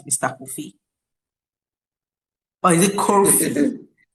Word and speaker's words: Kofi: Kofi or is it Ki? Yeah, coffee. I think you did pronounce wellid9 pandemic for me.